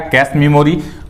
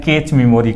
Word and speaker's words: cache: कैश मेमोरी पढ़ा जाता है, अगर उसका स्पेलिंग आप देखेंगे तो बिल्कुल भी वह क्या होता है, कैश मेमोरी का स्पेलिंग कुछ अलग ही होता है, जिसे जनरली लोग क्या कह देते हैं, कैच मेमोरी कह देते हैं, ठीक है।